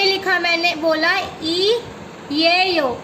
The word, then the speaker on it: 이에요: तो मैं यहाँ से रब कर दिया मैंने ये, और यहाँ पे लिखा, मैंने बोला ई ये यो। इसको कैसे प्रोनाउंस करते हैं, ई ये यो, ई ये यो।